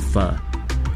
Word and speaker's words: pho: Pho what? It's spelled as P-H-O, but pronounced as pho.